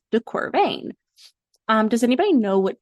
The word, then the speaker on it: de Quervain: pneumonic for this is pain rhymes with deor vean um does anybody know